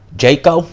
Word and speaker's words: Djeko: Alright, Tony Yoka stops Djeko, that's how you pronounce the guy's name, in the 12th round.